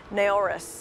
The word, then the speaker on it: Naoris: with me today David Carvalho the see of NARAS am I saying it right first you are